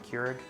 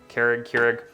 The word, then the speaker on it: Keurig: Keurig? Keurig.